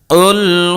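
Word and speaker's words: قُلْ: প্রিয় দর্শক, দেখুন এই জায়গায় যদি আমরা ছোট কাফ দিয়ে উচ্চারণ করি তাহলে অর্থ হয়ে যাবে এক আল্লাহকে খেয়ে ফেলো, নাউযুবিল্লাহি মিন যালিক। কিন্তু বড় কাফ দিয়ে যেভাবে আছে যদি সঠিক উচ্চারণ করি তাহলে অর্থ হবে কি, বলো তিনি আল্লাহ এক অদ্বিতীয়।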